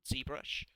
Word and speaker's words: ZBrush: is a program called zbrush um which is it's pronounced the American way because it's an American program and it's it's a